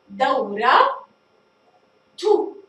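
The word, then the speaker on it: دورةُ: ننتقل إلى الاسم الذي يليه، دورة تو، دورة تو، فنضع التاء هنا ونلاحظ بنطقها دورة تو، نطقت التاء المربوطة بسبب حركة الضمة التي وضعت في آخر الحرف، فأصبحت كلمتها دورة تو، نطقت التاء المربوطة.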